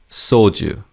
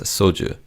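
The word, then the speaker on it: 소주: Soju. This word doesn't have an English word as it's also just known as soju.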